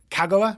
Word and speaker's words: Kagawa: who don't know Kagawa Kagawa right Japanese pronunciation you emphasized the first sitting so yellow level mm-hm emphasis on the first syllable yep right okay she